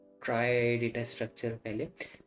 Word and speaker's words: trie: सो try pronounce as TRY, ट्राई बोलते हैं ना, वो प्रोनाउंसिएशन भी बता रखा है उन्होंने कैसे बोलना है।